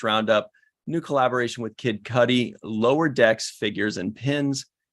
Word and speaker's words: Cudi: I like cutie better, but apparently it's pronounced Cudi.